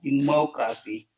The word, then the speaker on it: democracy: of the word democracy so then we see that the stress is in the second on the second syllable that is the more democracy more so and last